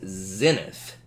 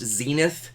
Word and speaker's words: zenith: for straight up is zenith it's also pronounced zenith those are both okay to ways to pronounce it but zenith here uh